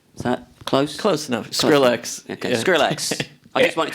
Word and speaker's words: Skrillex: but the music is is a combination of scres is that close close enough Skrillex okay Skrillex I just wanted to make sure